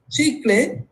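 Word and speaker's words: chicle: ancient Mayans used a resin like substance called CH clay so that's how it's pronounced CH clay and the north North American natives use spruce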